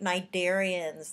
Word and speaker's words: cnidarians: All right, cnidarians. The sea is silent, but cnidarians are stinging nematocyst invertebrates for the most part.